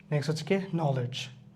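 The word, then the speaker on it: knowledge: থাকলে উচ্চারটা হবে না নলেজ নলেজ নলেজ নলেজের ক্ষেত্রে কে এবং একসাথে উচ্চারটা সাইলেন্ট আমাদের বিফোর লেটার কেম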